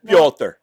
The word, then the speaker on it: Piotr: have something around here his name was actually spelled p-y-o-t-r but a lot of these english um versions will spell it p-e-t-e-r but that's why i call them piotr it's this that thing